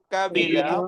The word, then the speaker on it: قبيلة: কবিলা ফারিহা সফিরা খাশিয়া কাবিলা ফারিহা সফিরা صبيرا সফিরা সফিরা এটা হচ্ছে কফ মোটা আওয়াজ হবে কবিলা قبيلة আবার বলুন তো